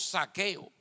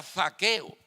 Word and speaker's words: Zaqueo: Recuerden que esto es con Z y uno tiene problemas para pronunciar la Z. Mejor decimos saqueo, pero sería Zaqueo. Significa puro e inocente.